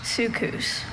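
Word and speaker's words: soukous: Sucus.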